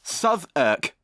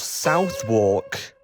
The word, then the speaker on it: Southwark: Southwark! And yes, it's pronounced Southwark. Why couldn't it just be pronounced Southwark?